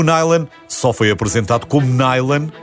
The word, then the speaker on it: nylon: noron ou newon e depois de muita discussão sobre a maneira como deveria ser pronunciado lá chegaram a um consenso e ficou nyen Existem algumas teorias que